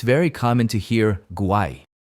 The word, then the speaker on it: guay: For example, in Spain it's very common to hear guay.